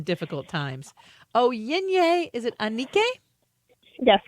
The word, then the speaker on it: Anike: Onyinye, is it Anike?